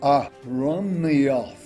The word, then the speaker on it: Aronilth: Now, today, it's called Aronilth.